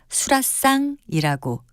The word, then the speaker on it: 수라상: 수라의 상을 붙인 수라상입니다 수라상에서는 사이시옷은 쓰지 않고요 그저 발음을 수라상이라고 된 소리로 합니다 다른 말 고운 말